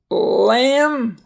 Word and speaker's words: lamb: Lamb, that little four-legged creature out in the cute little woolly creatures, animals that have wool.